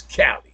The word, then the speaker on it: Kalli: And then it's Cali. You don't have a C, you got a K. So Cali or Cali, either or.